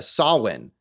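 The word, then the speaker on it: Samhain: because that's that's how it's spelled but it's pronounced uh sawin which is how she pronounces it in the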